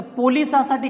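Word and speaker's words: police: Actually त्याचं pronunciation जे आहे द पलीस असं होत असतं, पलीस म्हणायचं असतं मित्रांनो.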